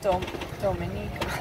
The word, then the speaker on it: Dominica: Dominica. That's at least how Chris Parker pronounces it.